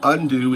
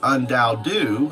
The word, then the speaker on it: UnDaoDu: undo or undoubted considering the wind's impact on pronunciation. So undo is not my name. That is the wind. Undou however is my name and that is you.